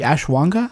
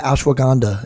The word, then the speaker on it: ashwagandha: supplements you like for example don't you like ash Wonka how do you say that yeah ashwagandha it's a amazing cortisol suppressing supplement you can